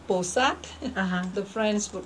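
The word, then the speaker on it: Pursat: The sound depends on, like, do you want to pronounce it in Cambodian way or Chinese way or French way, The Chinese would call Posat. The Cambodian would call Bosat.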